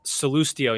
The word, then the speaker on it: Sallustio: to tell you guys my last name is pronounced celestio and you have to do it with a little bit of italian panache if you shake your